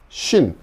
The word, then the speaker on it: שׁ: 이거는 신, 쉰. 그러니까 이 쉰은 영어의 sh, 요런 발음. 신, 이거는 그냥 s 발음.